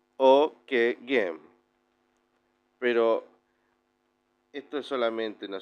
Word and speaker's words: Ockeghem: Con respecto al nombre, nació en Flandes, lo que hoy es Bélgica, Francia, Países Bajos, y su nombre se pronuncia algo así como, bien dijimos, Ockeghem.